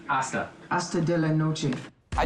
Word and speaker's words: hasta: Hasta, you don't pronounce the H? Hasta.